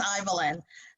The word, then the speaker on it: Ivaline: Think of Evelyn with an I, though it's spelled differently, and it's Ivaline.